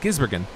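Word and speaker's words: Gisbergen: shane van gibser gibbsburg i keep saying that name wrong i i was saying gizbergen wait that is right gizbergen naming naming people is not my strong suit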